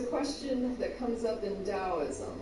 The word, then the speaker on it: Taoism: Sounds like, did you say Taoism, T-A-O? Yeah, it's pronounced Taoism, but it does, yeah, yeah.